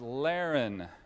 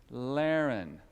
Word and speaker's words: Laren: got some beautiful children my name is Laren is anybody it rhymes with Darren does anybody named Darren here Laren three years ago I